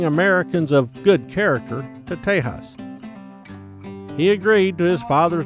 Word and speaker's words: Tejas: In the Spanish of that era, a J and an X made a similar H sound when spoken.